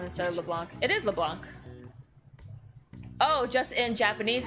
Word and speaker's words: Leblanc: you said that before you ran out of leblanc the first time like why do you have